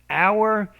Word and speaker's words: hour: do so remember that our it's one of the exceptions we don't actually pronounce the h in the beginning of the word but in most cases